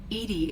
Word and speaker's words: EDI: are you named edie edie is the phonetic pronunciation of edi that is an acronym for enhanced defense intelligence yep how are you